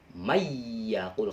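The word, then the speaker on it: من يقول: Tapi bacanya harus mayyaqul karena ini idgham bihun aja.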